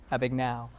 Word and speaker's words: Abagnale: How did sets apply to when you were dealing with the father and the real problems of Frank Abagnale? Did I pronounce? Abagnale, versus the fantasy world that you were creating?